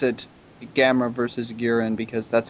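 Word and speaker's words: Guiron: Gearin because that's how they pronounce it in the Sandy Frank version because an MST they make a joke about it rhyming with urine mean butt in gear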